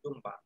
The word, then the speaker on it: দুম্বা: এখানে উচ্চারণ করেছি কেন ম এর সাথে এসেছে এজন্য এটা উচ্চারণ করেছি দুম্বা এখন এসো পাঁচ নাম্বার